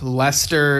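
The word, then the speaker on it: Leicester: On the Drum Talk TV page, we got Wayne Sims who says, "Hi, it's Wayne here, and Lester is pronounced as Jester in the UK."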